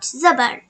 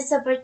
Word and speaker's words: Zobor: It sounds like as in the word car. Zobor is pronounced by opening the mouth and raising the voice. Please remember not to stretch the sound of the Zobor too much and say Hamza Zobor